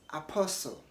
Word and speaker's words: apostle: in the following ways the first one is Apostle Apostle don't say apostle the t is silent so you don't want to say Apostle say Apostle apostle the same way you